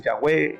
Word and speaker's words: Yahvé: Entonces, pero los que han estudiado estas 4 consonantes, el tetragrama, dicen que, o algunos hebraístas, que lo más cercano a la pronunciación es Yahvé. Uno dice Yahweh, Yahvé, pero que al español tradujeron como Jehová.